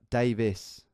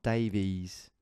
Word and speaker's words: Davis: that's my name yeah Davis not Davies no come on no that bollocks you know you Americans only go at me at mispronouncing your place names well you're guilty of the old Davies thing well it's Davis all right anyway so I'm